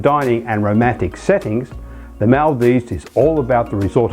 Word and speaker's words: Maldives: as you have heard it is maldives and not mal dies now that we have